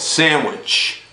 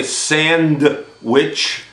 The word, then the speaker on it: sandwich: in them look at sandwich for example we don't say sand which the d is quiet okay how about this